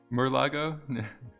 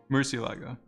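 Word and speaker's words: Murciélago: Well, how do you spell it? Murlago? Murcielago.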